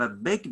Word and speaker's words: ܐܒ: Beth, we learned that if I have a big dot above it, it sounds of heavy B.